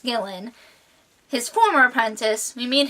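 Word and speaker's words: Gilan: meet halts former apprentice gillan i believe it's pronounced killin his former apprentice we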